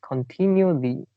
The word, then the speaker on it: continually: Yeah, the first syllable is more like con. Okay. Yeah, so it's continually.